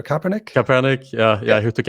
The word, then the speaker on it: Kaepernick: his name now but the american football player copernicus kaepernick kaepernick yeah yeah he took a knee yes